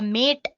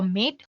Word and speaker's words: MATE: boots you into the mate desktop environment let me pronounce it ma T you can call it whatever you want Marte or meet the stop environment so